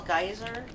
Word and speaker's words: geyser: Apparently what we call geyser, the British pronounce as geezer.